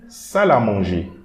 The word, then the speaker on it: salle à manger: So here we are not going to pronounce this E, but this L and the A here will create a liaison. So we are going to read it like a single word.